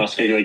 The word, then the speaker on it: Muskeg Lake: You're a proud member of the Muskig Lake Creation. Is that pronounced correctly? Muskig Lake creation.